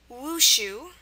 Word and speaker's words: wushu: So number 1 is wushu, wushu, W-U-S-H-U, and wushu basically is Chinese martial arts. Okay, wushu, pronounced wushu, just as you'd expect.